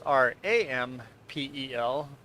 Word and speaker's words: Rempel: Because in Plotich, everybody pronounces it Rampel. Rolling R, Rampel.